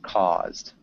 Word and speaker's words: caused: It's with a T or D sound at the end. With a D sound. Caused. Caused. Yeah, it's tough. You could caused. It's almost a T sound. It's definitely, I'd say, a D sound.